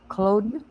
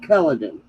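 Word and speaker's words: Culloden: Cloen. Very good. Most people from out west pronounce it Culladin.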